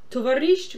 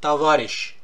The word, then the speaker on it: Товарищ: Also, see that spelling, S-H-C-H, it comes from, it's not how we read it anymore. In some Slavic languages, it still is pronounced like that. Товарищ, борщ, everything with sh is pronounced with sh, or sh, because that's what the letter used to be like.